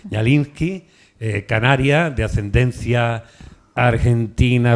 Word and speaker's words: Kñallinsky: El otro día le pregunté cómo se pronuncia una K y una ñ seguida. Dijo, pues la K no se pronuncia. Pues ahí está. Ñalinski, eh, Canaria de ascendencia argentina rusa, ¿vale?